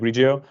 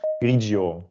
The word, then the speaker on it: Grigio: It's the Pinot Grigio, and I'm always pronouncing it wrong. It's the Pinot Grigio. Grigio. It's Grigio. Grigio. Yeah, I'm tending to pronounce the double E.